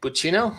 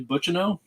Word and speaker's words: Butchino: is the exact pronunciation it's actually butcheno but to know believe it or not the last name is french i wouldn't have guessed